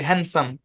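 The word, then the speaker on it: handsome: না এই যে শব্দটা হ্যান্ডসাম এখানে ডি টা সাইলেন্ট দেখেন একই বানান কিন্তু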